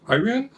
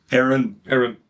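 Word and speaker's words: Éireann: Ages of Iran? Aaron. That's Ages of Aaron, which is just Ireland.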